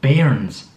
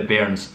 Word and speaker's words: bairn: previously, we call Wains, children, we call them bairns, a bairn. And shout out to Falkirk Football Club, we're fans of Falkirk Football Club because their club is nicknamed after this word. They're called the bairns.